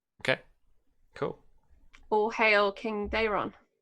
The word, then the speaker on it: Daemon: All hail King Daemon. Get the middle syllable right.